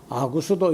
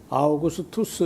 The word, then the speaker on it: 아우구스투스: 그래서 이런 거는 이제 좀 우리가 발음하는 것도 많이 익숙해지고 하니까 아구스도 이렇게 하지 말고 아우구스투스 이렇게 했으면 좋겠고, 가이사도 글쎄요, 케사르 혹은 그